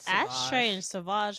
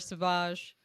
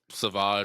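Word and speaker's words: Sauvage: today smelling like Dior saage I I recognize that anywhere I ain't gonna lie to you I just pronounced this Savage because I wanted it to be fancy I wrote Savage uh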